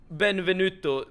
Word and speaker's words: Benvenuto: And try to pronounce ben benvenuto with the accent on you. Benvenuto. Something like that, right?